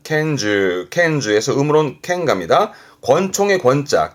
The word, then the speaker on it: 拳銃: 발음은 켄즈, 켄즈에서 음으로는 켄갑니다.